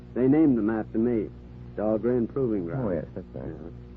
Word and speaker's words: Dahlgren: Of course, they mispronounce it down there. Dahlgreen, they say, but still named after me. But at Annapolis, the Midshipman's Armory, they call that Dahlgren Hall. They pronounce it right at Annapolis.